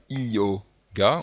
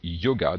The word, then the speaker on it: yoga: de séparer complètement, parce qu'on ne dit pas yoga, on dit yoga. Donc on a ce son qui se prononce ye, mais qui peut se retrouver par